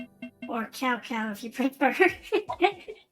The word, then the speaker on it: Cao Cao: the other person is So-So. Or Cao Cao if you prefer. I think it's pronounced So-So, right? I think I can also play as So-So.